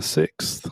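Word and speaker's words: Sicks: The Wyatt 6 but it's spelled s i c KS but it's supposed to be like six the number six now you know um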